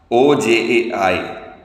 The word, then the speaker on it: Ojai: His talks in Ojai, O-J-A-I, Ojai, they pronounce it that way in California, is very famous in that.